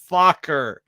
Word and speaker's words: Fokker: be a red border and definitely have the Fokker in the background. Yep. That is Fokker. Exactly. Yeah. Before we get struck, it's Fokker.